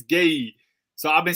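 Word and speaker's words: Guéhi: gerhy told us that it's not gurhy it's gay so i've been saying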